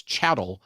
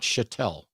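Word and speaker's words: chattel: mispronounced it every time it's chatt not chatel I'm from Louisiana I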